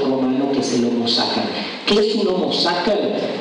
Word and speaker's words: sacer: Homo, hombre, sacer se escribe con un C en el medio, sacer, pero se pronuncia sacer, que en latín significa sagrado.